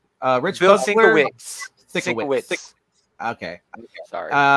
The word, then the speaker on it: Sienkiewicz: Bill Sienkiewicz, Rich Bill Buckler. Sienkiewicz. Okay. Sorry. It's a hard name to pronounce.